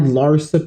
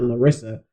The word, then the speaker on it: Larsa: You had Larsa Pippen. I now know her name. I can pronounce her name now. It's Larsa, not Larissa. I don't know why I thought it was Larissa Pippen, but Larsa Pippen.